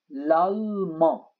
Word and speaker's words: l'allemand: شاهدوا كيف نلفظها l'allemand. إذا ال n وال d لا تلفظ.